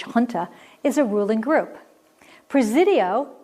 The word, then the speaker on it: junta: like it should be Junta but it's pronounced Hunter and I've forgotten my Spanish so I have to keep remembering that this has a Spanish pronunciation the J is an H Hunter is a ruling group